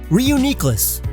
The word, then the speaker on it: Reuniclus: Reuniclus, because before it split and now it's whole again, so uni, as in one, and homunculus or nucleus.